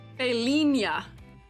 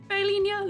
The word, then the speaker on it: Failia: I continually realize that I pronounced your name wrong for a long time accidentally. Uh, she her failia. I also go by, but for the purpose of adding teacher debuff or aiding teacher debuff, my name is pronounced Failia.